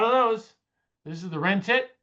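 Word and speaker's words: wrentit: Wren tit. It's not rent it. You say that term, most people think you're asking what you're going to rent at the car agency.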